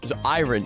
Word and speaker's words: iron: and says it's pronounced iron. You don't say the R.